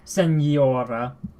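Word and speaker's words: señora: clear it is but it's not sin Senora it's not a regular in Sonora that's wrong it's Senora so it's it's there's there's a bit of a more the the N is not just n is mm Nia water okay yes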